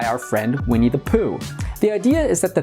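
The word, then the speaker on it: P'u: is the uncarved block it's pronounced puh in Chinese and is perfectly embodied by our friend we need the puh the idea is that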